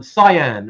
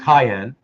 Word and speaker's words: cyan: blue a type of blue like um um cyan or actually it's actually supposed to be pronounced Cayenne um and the reason for that for that